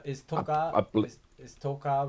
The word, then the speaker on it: toca: It's like the accent is on the first syllable, not the second.